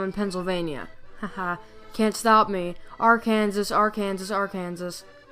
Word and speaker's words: Arkansas: Arkansas but it's pronounced Arkansas you have the French to blame for this apparently it's actually somewhat